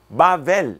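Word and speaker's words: בבל: Bavel, esse é o nome original, Bavel.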